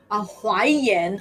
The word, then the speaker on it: Huaiyan: It's yen. It's like infant.